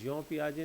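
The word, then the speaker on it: Jean Piaget: इसको लिखते जीन है लेकिन प्रोनाउंस जॉन करते हैं, फ्रेंच नाम है ये, इसलिए इसको ऐसे प्रोनाउंस करते हैं। तो जॉन पियाजे ने जो थ्योरी दी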